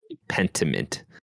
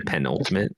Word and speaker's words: Pentiment: So Pentiment. I keep saying want to say penultimate. It's not.